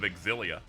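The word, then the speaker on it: Xillia: Tomorrow, I'm going to be streaming um Tales of Axilia. That's how you pronounce that, by the way.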